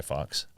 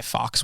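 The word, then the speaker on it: Fawkes: this guy named guy Fox was um it's spelled so guy Fox is a real person real guy but he spells it f a wkes do you know those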